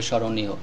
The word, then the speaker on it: স্মরণীয়: নিচে একটি ম এসেছে এখানে এই ম বর্ণটিও উচ্চারণ হবে না স্মরণীয় শব্দটি হবে স্মরণীয় স্মৃতিতে শব্দটির সঠিক উচ্চারণ